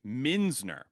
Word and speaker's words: Muenzner: It's pronounced Minsner and I my grandfather told me it mean it like the German name means uh mentor of coins.